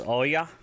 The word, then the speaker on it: oya: If you want to say cheers, hooray, go you, it's oya, spelled O-Y-A, oya.